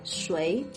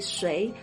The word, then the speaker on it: 谁: The reason is apparently the old pronunciation used to be 谁, but today it's more common to pronounce this word as 谁, at least in Taiwan and mainland China. The old reading is treated like a more fancy, esoteric pronunciation, but you'll still hear it here and there. So 谁 or 谁, they're both fine.